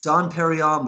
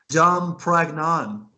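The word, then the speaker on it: Dom Pérignon: The name of the champagne is Don Perignon, but she said Dom Pragnon. Yeah. And it's like, and he even goes, that's right, Don Pagron.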